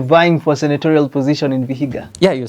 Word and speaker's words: Vihiga: You're vying for senatorial position in Vihiga.